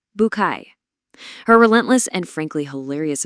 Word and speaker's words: Bucket: It follows the daily life of Hyacinth Bucket, though as she'll happily remind you, it's absolutely pronounced the French way, Bouquet.